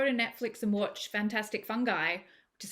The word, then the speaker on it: Fungi: You can go to Netflix and watch Fantastic Fungi, which is how we pronounce that word.